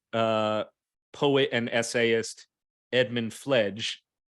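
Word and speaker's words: Fleg: poet and essayist Edmund fledge spelled f-l-e-g but pronounced with a soft G not Evan flag fledge who actually uh was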